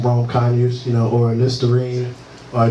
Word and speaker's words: Rome Conyers: that stuff so um everybody always says my name wrong and nobody knows how to introduce me so um you know I'll tell you I'm Rome kany you know or line